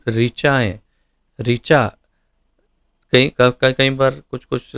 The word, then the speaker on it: ऋचा: जैसे गुजरात में उसका उच्चारण करेंगे रूचा, जैसे रूभू, लेकिन बाकी सब जगह पे इसको री उच्चारण करते हैं। उड़ीसा में भी इसको रू उच्चारण होता है इस तरह।